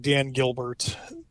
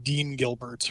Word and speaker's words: Dan Gilbert: few times was you kept mispronouncing Dan Gilbert his name the Detroit billionaire that owns the Cavaliers and Quicken Loans kept calling him Dean Gilbert repeatedly um which would